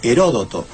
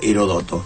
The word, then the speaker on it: Heródoto: mí me cae mejor heródoto si en realidad la mayoría de esos nombres griegos admiten quizás distintas acentuaciones productos sin acento se leería herodoto herodoto debería llevar acento en lado porque será el brújula